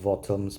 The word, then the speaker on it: VOTOMS: see the armor trooper voms I know it's pronounced votoms but I don't like the way that sounds armor Trooper votoms um scope dog and on the top left